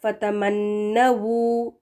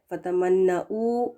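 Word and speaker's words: فَتَمَنَّوُا: यहाँ पर देखिए इसकी स्पेलिंग, फतमन्नवू डब्ल्यू के साथ सही है, इसका गलत प्रोनाउंसिएशन क्या है, अगर आप उसको वी लगा कर पढ़ें या फिर हमज़ा पेश, फतमन्नवू गलत है, फतमन्नऊ ये भी गलत होगा, ठीक है।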